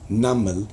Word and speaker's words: namal: And what's another amazing thing about it, if you think about the words, a namal with the meme, the M sound in the middle, namal, you can even, when you pronounce it, it's even heavier.